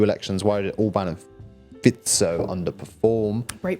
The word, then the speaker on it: Fico: Why did Orban and Fico underperform? Great pronunciation. Thank you very much. Yes, the issue here was that Ben... it's not his fault, but Ben pronounced it Fico, and that understandably irks people, especially because it's a recurring error.